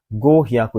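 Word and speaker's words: 五百: Gohyaku, jadi bacanya ini gohyaku eng des.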